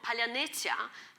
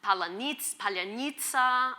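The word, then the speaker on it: паляниця: Now, the specific sounds are supposed to be hard for people who have not studied Ukrainian to pronounce. They'll usually say palyanitsa or anyway, there's various versions of it.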